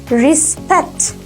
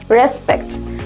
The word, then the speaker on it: respect: The right pronunciation of the word is respect instead of respect. We pronounce commonly this word respect, but this is wrong. The right one is respect.